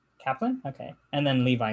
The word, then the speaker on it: Kaplun: shannon how do you say your last name kaplan kaplan okay and then levi it's new yeah hurry